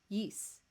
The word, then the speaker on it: Ys: ys songs or no i learned it's pronounced yeast from chris he was